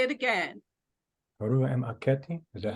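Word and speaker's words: Harmakhet: Haramaketi. Yes, Benjamin. Say it again. Haramaketi. Is that how you pronounce it?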